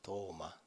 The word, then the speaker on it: 도마: 핵심적인 인물이 누구였죠 예 우리 식탁에 놓여 있는 도마가 아니고 발음은 똑같습니다 도마 도마라는 예수님의 12 제자